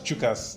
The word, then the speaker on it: Tchukas: We just pronounce it as Chukas, not TCHUKAS. The T is silent.